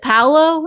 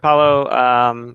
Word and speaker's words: Paolo: So Andrea asks, can you leave us a spoiler about the new pandemic version you developed with, is it Paolo? Is that how you say it? Paolo Mori, yeah.